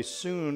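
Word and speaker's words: Sun: soon style of Tai Chi by the way soon is pronounced it's pronounced soon like swn it's spelled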